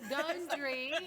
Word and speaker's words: Gundry: Spelled gun. Say it again. Gundry. Gun and dry. Just remember gun and dry, but Y'all, pronounced Gundry.